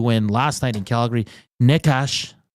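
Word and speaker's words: Nečas: Necas, am I saying that correctly? Necas with 2 goals last night. Chess. I think it's NESCHAS in the NHL pronunciation guide.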